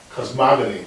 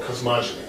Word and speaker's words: cosmogony: This is given a shorthand notation called cosmogony or cosmogony, depending how you want to pronounce it.